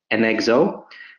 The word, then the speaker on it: Enxoo: you can see that right now our pronounce is an EXO but I wanted to